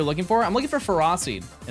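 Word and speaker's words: Ferroseed: Yeah, it's ferocied, not ferro seed.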